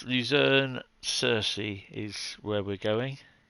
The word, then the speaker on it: Luzern: No, it's Luzern Cersei is where we're going. Forgot to remember how to spell it.